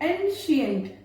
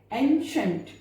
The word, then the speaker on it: ancient: ANCIENT, CIENT, इसको क्या बोलते हैं? एंशियंट, जबकि क्या होना चाहिए? एंशंट, एंशंट, शाह प्रोनाउंस करना है, एंशंट।